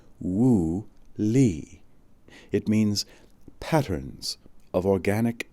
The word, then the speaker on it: Wu Li: When I studied physics in Taiwan, said Huang, we called it Wu Li, pronounced Wu Li.